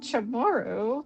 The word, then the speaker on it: Chamorro: I'm mispronouncing this, but people always tend to say, "Chamorro, what's that?" And I'm like, "Okay. Um it's Chamorro, but but yeah, I mean please come on in.